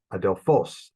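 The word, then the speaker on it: ἀδελφός: lexical form right adelphos last syllable that's where it should be then um anthropos first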